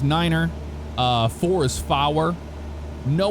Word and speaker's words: niner: is phonetically correct uh instead of five you'd say five instead of three you'd say tree nine is Niner uh four is fow